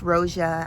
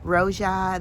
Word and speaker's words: Roja: And that's Roja. I didn't say it right. Roja.